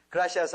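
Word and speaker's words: gracias: 그라시아스 하면 돼. 이 바로 R을 굴려야 돼. 그라시아스. 이 R 발음을 굴려.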